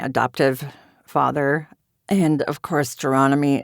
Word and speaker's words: Gironimi: And of course, Geronomy is incredibly difficult to spell and pronounce, which is why I say it always rhymes with astronomy. Um, if you yelled Geronimo at me, I'm just so over it.